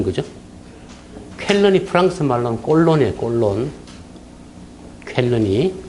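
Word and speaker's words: Cologne: 꼴론. 쾰른이 발음 비슷하죠, 그죠?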